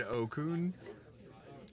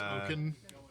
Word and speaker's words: Okun: Oh, is that It's Oaken. Is it Oaken? Have I been saying it wrong the whole time? I'm sorry if I have been. Yeah, I've been saying it wrong. I'm sorry.